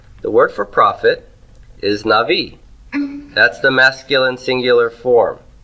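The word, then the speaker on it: נביא: syllables for a minute where's the tone on Navi is it on naught or V V the the na must be pre tonic right is the NA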